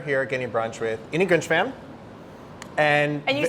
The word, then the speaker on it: Grinshpan: The way I do it, like the Grinch who stole Christmas and a frying pan. Grinshpan.